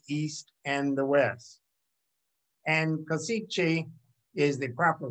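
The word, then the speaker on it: Košice: gateway between the east and the west and kosice is the proper pronunciation and i'd like for you to note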